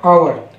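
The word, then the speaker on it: hour: एच ओ यू आर, आवर। ओ ने आ की आवाज़ निकाली, एच यहाँ पे साइलेंट है, ये आवर पढ़ा जाएगा। हावर नहीं पढ़ा जाता, क्या पढ़ा जाता है? आवर।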